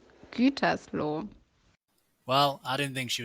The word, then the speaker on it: Gütersloh: Hi, your pronunciation is really shitty. So it's called Gütersloh. Okay? Again? Gütersloh.